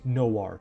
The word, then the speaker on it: noir: I mean, you can have fun debating the pronunciation of that word in the comment section, but Google says that it's pronounced Noir.